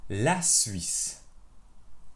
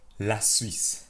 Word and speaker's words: la Suisse: La Suisse. La Suisse. La Suisse. La Suisse. La Suisse. La Suisse. Répétez. La Suisse. La Suisse. La Suisse. La Suisse. La Suisse.